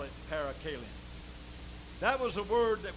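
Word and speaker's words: parakalein: the Lord hallelujah there's a Greek word p-a-r-a-k-a-l-e-i-n -para Kailyn I guess you pronounced The Scholar so I but I believe my pronunciation be as good as yours so we call it para Kalin that was a word that was used over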